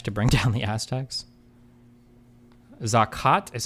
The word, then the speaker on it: Zakat: Zakat is how it's pronounced.